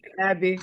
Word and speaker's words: Aeby: or how you Abby ab ab like Abby it's a Swiss name though oh yeah I'm